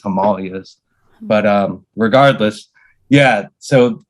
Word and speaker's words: Himalayas: But you're driving through the entrance into the Himalayas, or the Himalayas is what Yes, yeah. how most people pronounce it. The correct pronunciation is Himalayas, but regardless, yeah.